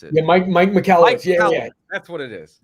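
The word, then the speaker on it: Michalowicz: Andrew McCockowitz or something. I can't even pronounce it. Yeah, Mike McCallowitz.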